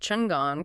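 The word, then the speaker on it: Chen Gong: He asks for his name and learns he is Chengong, pronounced Chengong, courtesy name Gongdai.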